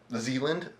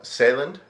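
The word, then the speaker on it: Sjælland: instead it is on Zealand uh or saland Shand depending on on pronunciation and preference um as in Danish pronunciation or foreign preference I suppose in that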